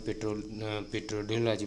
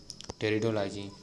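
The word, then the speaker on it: pteridology: हम पेट्रोडोलॉजी पढ़ रहे थे तो पी इसमें साइलेंट है, तो इसे हम बोलेंगे टेरिडोलॉजी।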